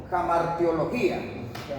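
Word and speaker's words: hamartiología: Sí, la h la van a la van a pronunciar como ja ja jamartía jamartía o jamartiología.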